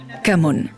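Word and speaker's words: cảm ơn: Come on. Pour dire merci en vietnamien, on dit "Come on".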